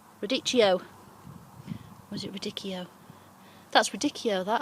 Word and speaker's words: radicchio: was it radicchio that's radicchio that i think with a h you don't pronounce it if i'm right